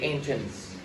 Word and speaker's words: entrance: Entrance, nhắn vào thứ nhất. Không đọc entrance nữa nha.